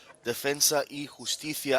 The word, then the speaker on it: Defensa y Justicia: I am loving the way you pronounce it now. It's absolutely correct. Defensa y Justicia.